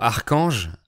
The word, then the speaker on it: archange: Ce mot archange, archangel, archangel, s'écrit A-R-C-H-A-N-G-E. Mais dans ce mot, l'ensemble CH se prononce que, comme dans le mot chronomètre. Sinon, le CH en français se prononce ch, comme dans les mots chat ou chien. Donc exceptionnellement, CH peut se prononcer que.